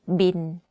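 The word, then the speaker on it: บิล: the english word bill but the pronunciation of course is different we call it bin like bin bin but if you want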